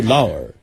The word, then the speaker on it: Lauer: What is the correct Well, let me pronunciation? hear you say it. I say Lauer.